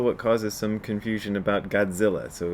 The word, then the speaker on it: Godzilla: thing is also what causes some confusion about godzilla so it's in english g-o-d-z-i-l-l-a and people will